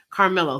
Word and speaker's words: Carmelo: Oh, you pronounce it like the basketball player. Carmelo Anthony. Okay. Carmelo.